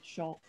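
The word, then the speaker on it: 所: It just when Tokoro is married to another kanji, it's pronounced as Sho.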